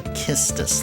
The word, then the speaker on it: Quistis: That's not how you pronounce those names, though. Sometimes I catch myself saying Kate Sith. It's actually Ketchi. And it's actually Kistis, like kiss.